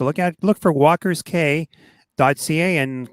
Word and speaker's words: Cay: at look for walkers k dot ca and k is spelt c a y and uh you can